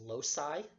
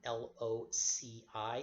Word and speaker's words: loci: its locus loc us if you're talking about the plural form that is lo sy l o c i sometimes pronounced loci loc i but locus is the